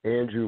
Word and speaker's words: Andru: and then I'll say goodbye my name is Andrew and be are you yes I know it's spelled weird but it's Mandy are you